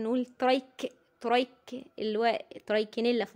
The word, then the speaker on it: Trichinella: سبيرال بورك ممكن نقول ترايك ترايك اللي هو ترايك نيلا في النطق بورك بورك يعني حاول تظبطها بقى ترايك